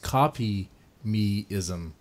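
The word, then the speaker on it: Kopimism: Oh, pronounced copy meism. Copy meism.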